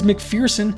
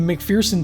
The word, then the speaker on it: McPherson: named the mcferson and because mcferson has the pronunciation of fear within it once the film got